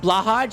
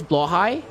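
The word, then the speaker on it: Blåhaj: It's not Blahaj, it's Blowhigh.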